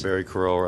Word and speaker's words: Crower: not well there's other ways Thank You Barry car corral yes am i pronouncing it right does it see you ro w please state your name and address sure Barry Crower I reside at 1 582 Plummer Street in